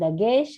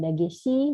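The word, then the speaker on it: דגש: Disebut dengan dagesh atau dagesi, bisa. Dagesh juga bisa.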